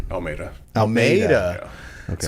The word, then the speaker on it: Almeida: Almeida. Almeida. Yeah. Okay. So I keep on saying it like Almeida, like the city. Yeah, it's Almeida. But It's I mean, Almeida.